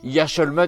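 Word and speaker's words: Yec'hed mat: Yashalmat, mais c'est ça, c'est Yashalmat.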